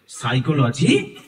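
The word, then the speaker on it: psychology: educational সাইকোলজি পরের ব্যাপার আগে সাইকোলজিটা জানতে হবে সাইকোলজি অর্থাৎ মনোবিজ্ঞান প্রথমেই বলি এর বানানটা ঠিক আছে সাইকোলজি বানানটার উচ্চারণে মনে হচ্ছে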